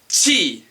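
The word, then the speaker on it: ち: This one is chi as in cheese.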